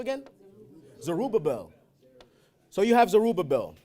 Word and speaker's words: Zerubbabel: How do you pronounce his name again? Zerubbabel.